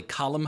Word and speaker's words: Colm: Uh cinematographer, I'm always a little iffy about um Irish names, but it's spelled Colm Hogan. I believe it's probably Callum Hogan. I think that's the way an Irishman would pronounce it, but his cinematographer, he also worked on Oddity as well.